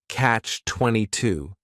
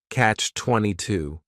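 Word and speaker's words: Catch-22: The word catch is just one syllable and then 22 is three syllables and the stress is on that final syllable.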